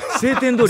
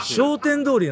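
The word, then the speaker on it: 商店通り: 俺ら晴天通り言ってた。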